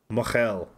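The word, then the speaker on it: mohel: Moyle. Mochel. But we pronounce it Moyle because it's funnier, because it sounds like a guy from Brooklyn saying Merle.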